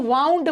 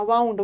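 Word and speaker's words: wound: इसको वाउंड पढ़ना, वाउंड। वाउंड का मतलब है बांधना, लपेटना, घड़ी को चाबी देना।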